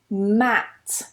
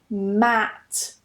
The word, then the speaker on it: mat: Mat, mat. Not to be confused with met.